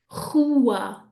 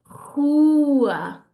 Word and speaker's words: rua: The second ones, rua, rua. We have a word beginning with an R, which either gives us a R or a H. It doesn't really, it depends by region.